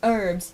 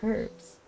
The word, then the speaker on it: herbs: I once saw a video that was like, "Don't you know it's pronounced herbs? You don't pronounce the H? The H is silent." But I never learned like that. I say herbs with the H.